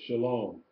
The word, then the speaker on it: shalom: You can see an example of how to pronounce the sheen with the dot on the right. S-H, shalom, at the bottom there. Sheen, Quamats, Lamet, Holum Vav, final mem. S-H-A-L-O-M, shalom.